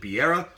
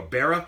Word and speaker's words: Beara: of person but I didn't know if he pronounced it B era or Berra its Berra so Berra cake it's actually got